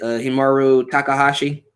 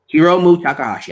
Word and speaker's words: Hiromu Takahashi: Was it Himuro Takahashi? I think I say his name right because let me see. Yeah, Hiromu Takahashi.